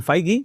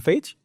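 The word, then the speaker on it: Feige: Pero esto como lo de Kevin Feigy, que todo el mundo dice Kevin Fage de Marvel, ¿eh?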